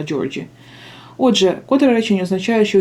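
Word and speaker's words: Georgie: перевірила вимову Так що не Георгій а джорджі отже котре речення означає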